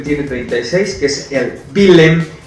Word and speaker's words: Willem: El Roda tiene 34 puntos, el Willem tiene 36, que es el Willem, así se pronuncia en holandés.